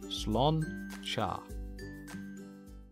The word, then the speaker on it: sláinte: It's a hard word to say, but it's pretty much pronounced slán cha.